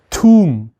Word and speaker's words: tomb: 그러면 첫 철자를 T로 바꾸면 얘는 뭐라고 발음해요? 탐이에요? 아니에요. 놀랍게도 툼이라고 발음을 합니다.